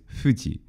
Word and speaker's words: Fuji: pronunciation of ancient Greek so this is also the same sound found uh in Japanese represented in Japanese transcriptions by an F normally like Mount Fuji is Fuji Fuji The Voice version of